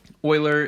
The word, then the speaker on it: Euler: but that is how his last name is pronounced euler is a very prolific mathematician he is one